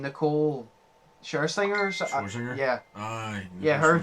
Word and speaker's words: Scherzinger: Nicole Scherzinger? Scherzinger? Yeah. Yeah, her. Scherzinger.